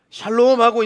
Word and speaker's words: 샬롬: 샬롬하고 인사하면 죽을 놈도 살롬 될 줄로 믿습니다. 우리 좌우로 인사 한번 하겠습니다. 발음을 잘 하셔야 돼요. 혀를 조금 꼬아가지고 샬롬, 샬롬 되세요.